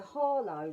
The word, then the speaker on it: Harlow: And my MP, my local MP, has said they're going to roll out quite a lot of money into Harlow, right? Pronounced it with an H.